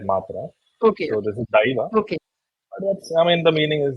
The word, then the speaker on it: Daiva: South we pronounce it as I and not as A. In Okay. Hindi we pronounce it as A, that matra. Okay. So this is Daiva.